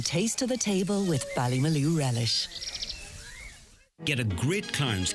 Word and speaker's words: Ballymaloe: Barbecue. Rhymes with Ballymaloe.